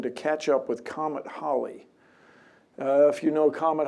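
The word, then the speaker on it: Halley: used to be called Haley's Comet but they met some they found people they people from the Holly family stepped forward and said we pronounce it Holly not Haley but I don't know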